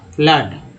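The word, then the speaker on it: flood: एफ L double O डी फ्लड में double O का उच्चारण क्या हुआ है, तो आ के रूप में हुआ फ्लड।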